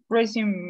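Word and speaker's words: résumé: me resume resume res resume me raising me okay this is a french word that we use in english pronunciation is resume christian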